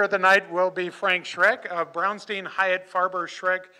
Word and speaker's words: Schreck: Our first speaker of the night will be Frank Schreck of Brownstein Hyatt Farber Schreck LLP. Did I pronounce that correctly?